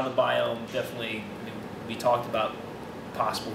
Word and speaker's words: Biome: The first time I saw Biome, I thought it was BIOME, because it's spelled BIOME, and it's about me. So I thought it was BIOME, and then someone was like, no, it's Biome.